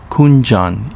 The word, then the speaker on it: Kunjan: not let's begin with kunigami village pronounced kunjan in uchinanguchi it is the northmost